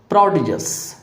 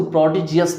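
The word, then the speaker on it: prodigious: अब इसको थोड़ा सा समझने की बात है कि आप ये प्रोडिजियस नहीं हो सकता है, तो कुछ लोग इसको प्रोडिजियस भी प्रोनाउंस करते हैं और प्रोडिजस भी होते हैं।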